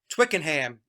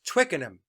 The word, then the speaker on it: Twickenham: british listeners said mike twickenham is twickenham we don't pronounce the h so i'm sorry about